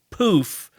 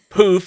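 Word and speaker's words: Pooph: And it's Poof, but it is spelled P-O-O-P-H. So it's poop with an H, Poof.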